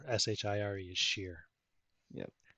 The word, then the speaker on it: shire: it lincolnshire or lincolnshire lincolnshire here lincolnshire yep sheer s-h-i-r-e is sheer yep right got it link and share what